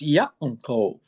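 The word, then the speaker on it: יעקב: But if you pronounce the ayin the way it's supposed to be pronounced, it's Yaakov.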